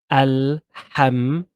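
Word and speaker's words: الحمد: So this is the word alhamdu.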